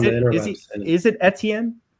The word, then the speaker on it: Etienne: For me, the running backs, it's Najee Harris, it's Travis Etienne, or however you want to pronounce it, and Javonte Etienne. Williams. It's Yeah, Etienne. he's Etienne.